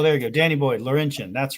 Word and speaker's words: Laurentian: you go Danny Boy Laurentian that's right every time mongrels tells me I still say it wrong it's Laurentian see that that looks like